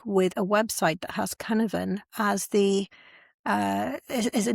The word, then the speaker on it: cynefin: The other Welsh word that I want to look at is Cynefin.